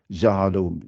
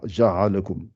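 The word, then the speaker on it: جعلكم: J, ja'alakum, ils ne disent pas ja'alakum. Ouais, ja'alakum, ils disent ja'alahum, ja'alakum. Certes, l'écart ou la différence de prononciation est faible, mais quelqu'un qui t'écoute bien, il sait si tu prononces exactement ou pas.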